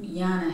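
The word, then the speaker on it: Llyana: I think you were telling me that your name, Yana, has Celtic origins? Yes. It does. In English, it's spelled L-L-Y-A-N-A. The L's are silent.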